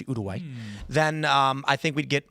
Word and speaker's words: Uruguay: To be completely honest, if we did USA versus Uruguay, that's how you pronounce Uruguay, by the way. Everyone says Uruguay, it's Uruguay.